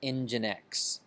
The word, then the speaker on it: nginx: what I'm saying yeah as far as I know you pronounce it engine X so you know whatever